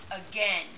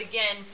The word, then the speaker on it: again: like a gain but again it sounds more like this uh again with the short e and this is a